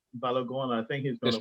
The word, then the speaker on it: Balogun: But I'm hearing I think what's his name, Florent Bologna, or how he pronounces Balogun. Balogun.